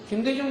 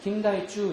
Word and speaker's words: 김대중: 뉴스에서이 누구예요 김대중 대통령이죠 이렇게 김대중이라는 발음을 일본 사람은 못 하니까 어떻게 했냐면 전부 다 자기식 음으로 풀어서 읽어 버렸어요 어떻게 읽었냐 그은 긴 다이 쭈 이렇게 발음 했어 김다이 쭈 이렇게 읽었어 노태우 노타이 김영삼 김해상